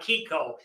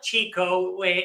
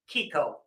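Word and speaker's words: Chicco: Kiko yeah it's not Chico which it may a lot of people think it looks like but since we're an italian-owned company that CH gets a hard sound so it's pronounced Kiko so you a lot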